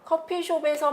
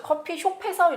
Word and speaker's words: 커피숍: 자 이렇게 바르 마저 커피숖에서 이렇게 발음 하지 않습니다 몸으로 시작되는 조사가 뒤에 이어질 때는 요 자 받침을 어디서 이렇게 발음 하게 되는데요 자 그런데 우리가 커피숖에서 라고 발음하지 않고 커피숍에서 라고 발음하는 걸 볼 수가 있죠 그러니까